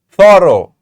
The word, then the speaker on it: thorough: tough tough rough and the last word is thorough thorough what sound are we hearing the o sound all right we have